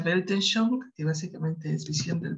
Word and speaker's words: Weltanschauung: Creo que es así, no estoy muy segura, se pronuncia Weltanschauung, que básicamente es visión del mundo.